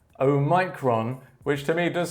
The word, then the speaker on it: omicron: note about their pronunciation the most common pronunciation for this word is omicron omegron omicron however there